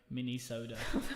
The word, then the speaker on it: Minnesota: it's like a really small can of Coke, mini soda. Oh gosh. And that is the comedy. There we go. So if you ever need to know how to say it, mini soda.